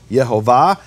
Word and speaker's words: Yehovah: Le'olam, Yehovah. He's telling us the statement, this is my name forever, is itself a hint at the true pronunciation of the name.